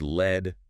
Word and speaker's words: lead: And pronounced led rhyming with bed.